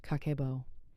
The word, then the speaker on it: kakeibo: In Japan, millions of people, mostly women historically, use something called kakeibo. Pronounced kakeibo.